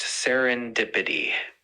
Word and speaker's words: serendipity: It's pronounced serendipity.